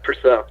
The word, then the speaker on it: Purcell: Well, I was looking up your bio, and I came across your hometown of Purcell, Oklahoma. Is that correct? Yeah. Is that how you pronounce it? Yeah, Purcell.